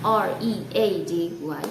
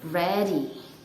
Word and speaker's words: ready: So one more time, I'm going to tell you how to pronounce that word R-E-A-D-Y correctly. It is ready, not ready. Ready.